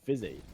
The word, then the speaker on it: Fuzi: And I had people in the chat telling me I was saying Fuzi wrong and that it was pronounced Fizzy.